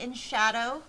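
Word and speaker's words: En Shadow: In Shadow. And it's spelled E N Shadow.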